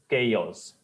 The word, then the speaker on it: chaos: is called as chaos so the pronunciation is not chos or anything like that it is chaos chos chaos cof word